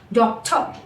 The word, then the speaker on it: doctor: Whenever there is specifically words ending with or. For example, doctor, doctor, doctor, doctor. We drop down the r.